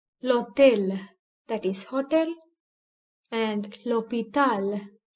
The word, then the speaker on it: hôtel: Therefore, the vowel following the letter H is prominent in pronunciation. L'hôtel, that is hotel, and l'hôpital, that is hospital, are some examples.